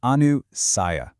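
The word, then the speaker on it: anusaya: Anusiah. Let's get the pronunciation right. It's Anu Saiia.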